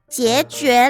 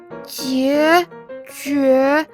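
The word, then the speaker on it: 孑孓: 哎呦，小奥，那个念作孑孓啦。孑孓，原来这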